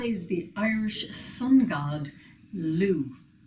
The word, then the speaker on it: Lugh: the irish sun god lu spelled l-u-g-h but pronounced lou this very special deity